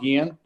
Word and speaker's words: Gian: Next speaker will be pronunciation, is it Gehan? Or Gian? Help me with the pronunciation. I had to unmute. Yes, it's Gian.